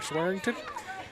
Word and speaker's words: Swearingen: So, I just got a pronunciation here, Swearingen. That is not how it's spelled, but I'll take it at this point.